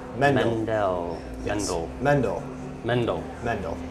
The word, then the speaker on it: Mendel: it certainly gets mispronounced. So. for the record, It's Mendel. Mendel.